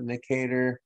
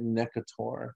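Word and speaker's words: Necator: learned it as negatory you can call it nicator but not around me i learned it when when i took parasitology my professor was really into pronunciation and he called it nekator so it's nicotor americanus and ankalostoma duodenale these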